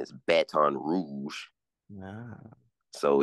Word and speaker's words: Baton Rouge: Snoop Dogg says b Baton Rogue Rogue um natives call it Ben Rouge the correct pronunciation is Baton Rouge no so it's you